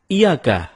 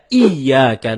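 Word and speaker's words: إِيَّاكَ: na'bud Wa iyaka nastain ada yang membacanya dengan iyaka tidak menekan huruf Ya seperti seperti sebagaimana kita jelaskan tadi bahwa penekanan itu dapat merubah makna kalau kita baca iyaka na'budu dengan menekan hurufi maka artinya menjadi kepadamulah kami menyembah kalau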